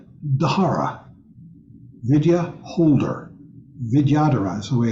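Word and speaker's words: vidyadhara: called it's a video dhara Vidya holder vidyadara is the way it's pronounced Vidya Dara d-h-a-r-a and the Tibetan for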